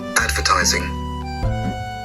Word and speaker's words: advertising: Advertising. Advertising. Advertising is read on the third syllable.